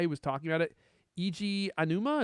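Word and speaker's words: Eiji Aonuma: Eiji Anuma, is that how you say his name? Mm-hmm. Yep.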